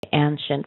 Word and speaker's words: ancient: I would say a it's a long a and like when you would say Wayne or it's and then the c i n t is like an sh nent anent an an